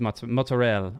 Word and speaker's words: mozzarella: so here's a question do you pronounce it mozzarella or is it motz fresh mutts oh good question mozzarella okay it is mozzarella um okay uh do